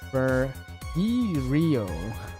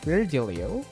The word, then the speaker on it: Virgilio: It's pronounced Virgilio.